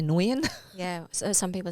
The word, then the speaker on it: Nguyen: can't pronounce the nguyen it's got the ng in it you might just say nguyen yeah so some people say nugent nougat because i've got um